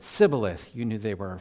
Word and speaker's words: shibboleth: they looked, incredibly similarly, they had a word that they pronounced very differently. And the word was Sibboleth or Shibboleth. And whether you said Sibboleth or Shibboleth, you would know what group they were from.